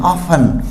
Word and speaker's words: often: इसी तरह OFTEN, ऑफन, अंतिम लेटर क्या है इसके? TEN, तो T साइलेंट हो जाएगा, ऑफन, प्राय।